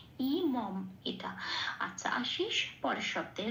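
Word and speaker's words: इमम्: আচ্ছা, হর্ষই ম অনুস্বর ইমং, তাহলে এখানে শব্দের শেষে অনুস্বর আছে, 4 নম্বরে তালিকাভুক্ত করে দেওয়া আছে ময় হসন্ত দিয়ে অনুস্বরটা প্রতিস্থাপিত প্রতিস্থাপিত হয়ে শব্দটার উচ্চারণ কি দাঁড়াবে? ইমম।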